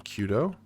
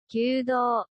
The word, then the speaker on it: Kyudo: So the lines above the top of the O and the U are meant to symbolize extending that vowel. That's good to know. Kyudo.